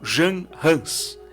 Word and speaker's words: Jan Hus: Tcheca, um homem chamado John Hus, ou Jan Hus, em tcheco, para você compreender como que seria essa pronúncia.